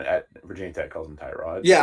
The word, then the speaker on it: Tyrod: reporter and was like apparently his name is pronounced to Rod. Um, Brandon, did you like heard that before? No, everyone at Virginia Tech calls him Tyrod.